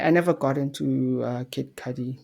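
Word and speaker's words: Kid Cudi: never got into uh kid Cy that's that's how you pronounce his name yeah kid C I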